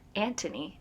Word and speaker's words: Anthony: So then The Viscount Who Loved Me follows Anthony, or Antony, as I guess the British say.